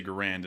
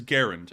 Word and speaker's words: Garand: obscure as in errand Accent on the first syllable or according to the Merriam-Webster system of marketing Garand so that is there it is I know that a lot of people say Grand and a lot of people here in the South say Grand but it is Garand and you know considering